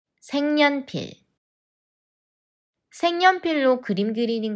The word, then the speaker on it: 색연필: ne another change takes place which is 생 생년필 생년필 색연필로 그림 그리는 거 좋아해 색연필로 그림 그리는